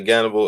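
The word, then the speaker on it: Gannibal: within H is because in Russia I guess they use the H as a G so the H dump they don't use the H over there so they say cannibal or however they pronounce it but that's why it's a G instead of an H but he took on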